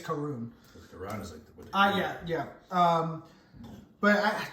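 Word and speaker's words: Karun: video camera guy um his name is kara karoon i think k-a-r-u-n i was saying it wrong i think it's karoon oh yeah yeah um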